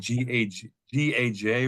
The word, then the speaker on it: Gaj: It's spelled G-A-J or Gaj.